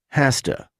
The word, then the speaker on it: has to: In informal conversation, we often pronounce have to, and has to, hasta. Many times people say hafta, hasta, hafta, hasta.